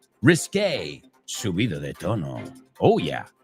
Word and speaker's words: risqué: No, not risky. Risky es arriesgado. Risqué. Que se escribe Q-U-E al final. Risqué.